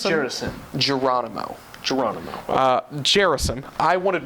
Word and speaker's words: Gerasim: I think it's Gerasim.